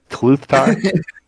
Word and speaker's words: Tluthtar: It's Tluthtar. Okay, Pretty sure. it's just like you say it. It's not like a silent T or a silent L.